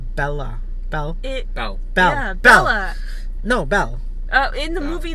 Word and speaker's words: Belle: bella bell bella no belle in the movie the way they pronounced it was bella but whatever i don't